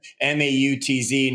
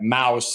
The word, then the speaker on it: Mautz: Mautz, not like mouse. It's there's the T and the Z in there to spell it.